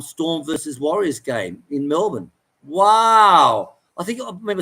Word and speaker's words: Melbourne: they pronounce Melbourne yeah it's Melbourne Melbourne no it's not born there's no born idty here he's all right